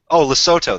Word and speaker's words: Lesotho: And Lesotho, that's how you pronounce it.